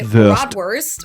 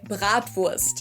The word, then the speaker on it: Bratwurst: Most Americans say Bratwurst, or sometimes it's also shortened to just Brat. In German, we say Bratwurst.